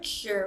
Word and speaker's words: cure: practice tour cure jury with this word cure we want to make sure that it doesn't sound like care so we have care